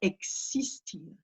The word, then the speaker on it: existir: L'espagnol va dire existir. Donc, jamais de son Z qui apparaît.